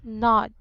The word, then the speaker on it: nod: This is actually a short O. Very good. So it should be pronounced as O. Nod, nodding.